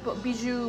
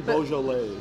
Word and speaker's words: Beaujolais: Bijou, Beaujolais. Actually, Beaujolais.